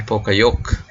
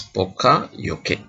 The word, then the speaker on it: Poka-Yoke: And how is it pronounced? Poka-Yoke. Some people pronounce it Poka-Yoke, Americans and Europeans. But anyway, the pronunciation is like this, Poka-Yoke.